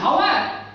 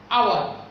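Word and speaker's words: hour: যেমন আওয়ার, এখানে কি হাওয়ার অর আওয়ার কোনটা, what is the pronunciation of that very word, this very word আওয়ার। তাহলে যেহেতু এই যে উচ্চারণ মিসিং আছে এখানে, হয়ের মতো হয়নি, এই যে উচ্চারণ when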